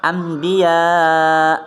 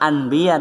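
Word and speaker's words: أنبياء: ini juga sama sayurnya Ambia bukan bahasanya Anbiya tapi Ambia paham ya itu San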